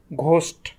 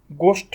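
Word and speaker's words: ghost: এখন এই জি এর সাথে যদি আমরা আবার অ্যালফাবেট এইচ যুক্ত করি, তখন আবার এটি উচ্চারণ হবে কার মতো, ঘয়ের মতো, যেমন ঘোস্ট। গোস্ট কিন্তু আমরা বলি না, আমরা বলি ঘোস্ট।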